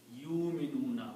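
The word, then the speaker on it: يُؤْمِنُونَ: Yu'minuna. We should not pronounce that way. It should be ya will combine with the hamza only. Waw is not to be pronounced. So it is yu'minuna.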